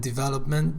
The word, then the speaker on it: development: the older and younger generations okay so any mispronunciation and yes develop and development the stresses on the second syllable and widened